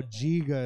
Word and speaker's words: Giga: Giga is how you pronounce his name.